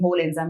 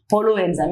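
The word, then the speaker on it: holoenzyme: remember in this way that's why I'm pronouncing whole enzyme whole enzyme but actually the right way of pronouncing is Holo enzyme it's not a Holo it's a Hol enzyme okay so this is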